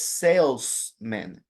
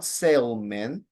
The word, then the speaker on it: salesman: of one specific word it's salesmen not not Salan all right because Salen would sound like a person who sales like sales in a boat or in a in a ship right that would be a Salman so it's important that you pronounce the second s salesman come on repeat